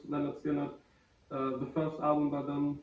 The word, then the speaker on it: Lynyrd Skynyrd: it's going to be this one leonard's gonna pronounce leonard skinner the first album but then the debut album